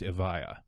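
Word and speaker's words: Evija: let's start with E but apparently it's pronounced Avaya Avaya but that's not intuitive so raspberries - the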